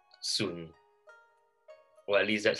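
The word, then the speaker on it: 笋: in chinese is called sun well at least that's how we pronounce it in that dialect so and it sounds like soon which means um everything is smooth so it sounds good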